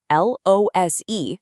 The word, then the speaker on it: lose: Remember, L O S E, our verb, is pronounced with a Z sound like lose.